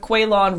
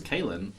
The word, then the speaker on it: Caolan: anyways I am here with kweilyn Robertson oh that's that's your name I was 20 other I thought for Irish pronunciation was quite as Cailin that's weird I'm most